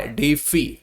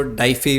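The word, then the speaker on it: deify: Next is डी डी ई आई एफ आई, डीफी जिसको बोल सकते हैं, ठीक है, या कई लोग इसको डाइफी भी बोलते हैं, जो भी आपको ठीक लगे प्रोनाउंसिएशन आप वो फॉलो कर सकते हैं।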